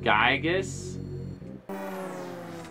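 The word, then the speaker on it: Giygas: It's pronounced Gygus.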